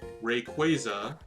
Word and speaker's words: Rayquaza: even though it is like without a doubt rayquaza because the quasa is derived from the word quasar which is pronounced quasar it's not quasar it's quasar like